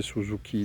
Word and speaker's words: Suzuki: Pour les puristes de la langue japonaise, c'est Suzuki.